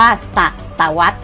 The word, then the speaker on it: ศตวรรษ: พรรณนา อ่าน ว่า พรรณนา สังเกต ว่า พยายาม ที่ ใช้ รอ หัน นะ คะ ว่า อ่าน ออก เสียง เหมือน มี ไม้ หัน อากาศ กับ ตัว สะกด ของ คำ นั้น อ่ะ ลูก นะ คำ